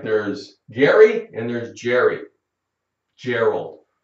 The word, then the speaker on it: Gerald: Gary and there's Jerry Gerald they can be spelled with a G it sounds like a j it happens we have